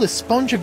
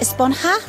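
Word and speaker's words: Esponja: that's what this whole esponjo grande thing has been about huh actually it's pronounced espanha with an h sound at the end really but we've all been saying a sponge up yes i know it's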